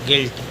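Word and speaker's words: guilt: पढ़ेंगे गिल्ड अगला है जी यू आई एल टी यू के बाद आई स्वर से पढ़ेंगे गिल्ट अगला है जी यू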